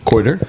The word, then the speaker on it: Kouider: down I'm sorry how do you say your last name quarter yeah quarter yeah okay got it so um wait since